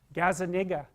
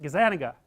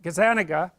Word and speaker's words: Gazzaniga: to say his name Gaza that's wrong is that Gazzaniga yeah I think that's it anyways he did some